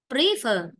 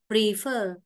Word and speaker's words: prefer: Chứ nhiều bạn đọc cái từ này sai này, nhiều bạn cứ đọc từ này là prefer, là sai. Mà đây phải đọc là prefer, prefer, prefer.